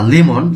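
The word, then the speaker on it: 레몬: ল উচ্চারণ করে থাকে কোন একটি নামের শুরুতে রিউল আসলে ল উচ্চারণ করে লেমন লেবু হানবন একবার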